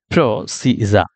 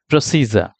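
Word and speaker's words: procedure: necessary documents in advance তাহলে এখানে দেখেন প্রসিডিউর আমি বলতেছি কিন্তু আদত এটা কি প্রসিডিউর না এটা হচ্ছে প্রসিজা প্রসিজার তাহলে প্রসিডিউর হয়ে গেল প্রসিজা তাহলে আমি কারেক্ট কি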